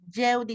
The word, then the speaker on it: Jeudi: Se lee Yeudi, licenciado, y se escribe Jeudi.